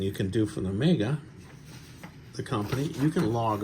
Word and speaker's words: Omega: Omega, that's the correct way to say it, they tell me. The head of the company says Omega, I guess that's what it is.